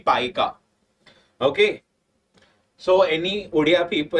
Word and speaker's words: Paika: I pronounced it Poika, but it should be Paika.